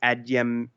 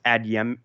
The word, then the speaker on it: Adeyemo: Deputy Treasury Secretary Wally Adeyemo, I'm probably pronouncing the name incorrectly, but it's Adeyemo, told House Democrats on Thursday.